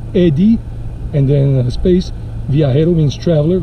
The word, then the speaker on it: Eddie: y not i e but why because people mispronounce it if I use the IE they would say Edie naredi so it's Eddie and then a space via hero means traveler